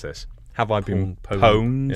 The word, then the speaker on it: pwned: pwned? Yeah, it's owned but with a P.